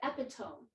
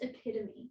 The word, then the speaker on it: epitome: before and she said oh it's like the epitome of this and whoever else was in the car with us said it's pronounced epitome yeah and my sister